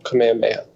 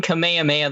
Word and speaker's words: Kamehameha: equal amount of time being a pervert so Kamehameha yep the answer is King Kamehameha the great or King kamehame the first give